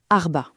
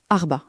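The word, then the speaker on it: أربعة: La prononciation, elle est assez rythmée. Arba. Arba c'est plutôt direct Arba.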